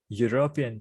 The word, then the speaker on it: European: එතකොට E අකුරක sound එකක් එතන නැහැ. මේ තියෙන්නේ ය sound එක. European කියන්නේ එහෙනම් පටන් ගන්න consonant sound එකකින්.